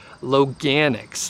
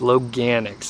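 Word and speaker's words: Loganix: so I was able to confirm the actual pronunciation of the company so Logue annex Logue annex is the name of it and actually all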